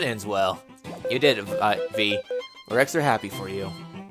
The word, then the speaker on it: Vi: if it's V or Vi. The developers confirmed that it is V like a B. However, though, inside the limited print release of the game's manual, Jean pronouncing Vi's name like Violet.